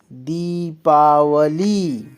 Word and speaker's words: दीपावली: आशीर्वाद आशीर्वाद होता है दी पावली दीपावली दी का उच्चारण देर तक करेंगे दीपावली दीपावली नहीं दीपावली इसी प्रकार निरोग क्या उच्चारण